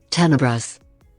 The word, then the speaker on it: Tenebrous: How is this actually pronounced? Tenebrous.